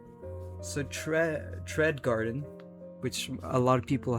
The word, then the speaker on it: trädgården: These are actually Scandinavian letters, specifically Swedish letters, and trädgården is actually pronounced trädgården.